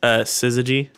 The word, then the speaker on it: syzygy: So I pulled out the Wikipedia page just full of their episode names, and I found, I think it's technically pronounced Syzygy, but I was like, Syzygy.